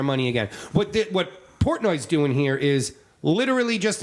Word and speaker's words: Portnoy: name again dave uh portnoy portnoy that's how you portnoy is how you pronounce it importantly so yeah what